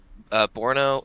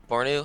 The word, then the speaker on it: Bornu: There's Congo, there's Assyria, there's Borno, or no, Bornu.